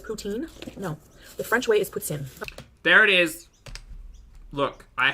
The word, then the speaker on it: poutine: that's what I'm gonna do you enjoy your poutine ma'am it's not poutine people say that it's poutine French way is puts in there it is look I have confirmation by